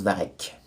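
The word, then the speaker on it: varech: Varek, on prononce Varek ou Varich ? les algues prononciation varche sans doute Varek Varek ça s'écrit Varche ça se prononce Varek c'est sa nettement dessiné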